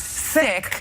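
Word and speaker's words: Cikk: the third grade because my original last name was see I kk which everyone pronounced sick and my mother who's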